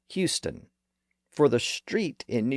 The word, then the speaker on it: Houston: in Texas it's pronounced Houston for the street in New York City it's pronounced hon the city and the street are actually named after two different people who pronounced their last names differently and that's why the